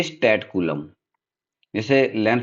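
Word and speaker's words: coulomb: जो SI unit होती है वो होती है कूलम ठीक है स्पेलिंग इसकी है सीओ य एल ओ एम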